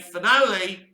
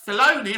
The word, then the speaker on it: Filoni: star wars now the second side is dave finale the days let's say his name again dave uh filoni of course it is and john favreau so